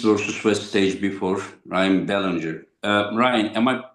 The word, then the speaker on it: Belanger: Like Bellanger. Ballinger. Okay. Okay. Yes, sir. Yeah. Since it is not my naughty language. Sorry about it. Okay. Ballinger.